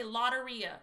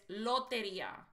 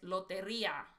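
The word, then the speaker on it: Lotería: They say Loteria. It's the Loteria. The right way to say it is Loteria. The real right way to say it is Loteria with a rolling your R, but it's really Loteria.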